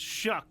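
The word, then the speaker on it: Shough: His name was Shao last week. It's Shuck this week. Oh, it's Shuck. What is it now? Shuck. Which rhymes with what? Well, everybody was calling him Shao. He didn't get it. I know what it rhymes with. He doesn't figure anything out, this guy. Chris, it rhymes with fuck.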